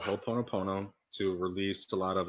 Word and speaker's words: Ho'oponopono: you you talked about this and I'm gonna mispronounce it ho po po po po can you say that again ho oponopono ho oponopono my my girlfriend talks to me